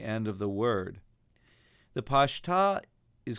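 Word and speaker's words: Pashta: read trope mark looks like an apostrophe it's pronounced pasta it's a servant of Cottone so it's not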